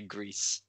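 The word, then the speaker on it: Gris: That's actually a Spanish word, so it's meant to say Greece. Greece. Yeah, so I was saying it right.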